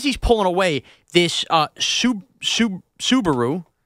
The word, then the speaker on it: Subaru: pulling away this uh Subaru you called it a Suburu it's a tough word for me to say you told me this